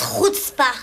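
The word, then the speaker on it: chutzpah: deux a une sacré coutpa ça se prononce RPA Disle comme si tu avais un petit morceau de chips coincé dans la gorgea super en plein dans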